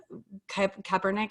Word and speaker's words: Kaepernick: Like your job is to like, remember when Nike did the whole thing with Kaepernick, I think is how you say his last name.